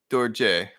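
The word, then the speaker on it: 多謝: In Cantonese, we say dorje. How do you? Is it an upward intonation, dorje, or dorje, or dorje?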